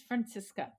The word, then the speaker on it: Franziska: name um you actually said right it is Francisco okay are we going to go for that